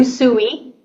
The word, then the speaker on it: Usui: Is it Usui?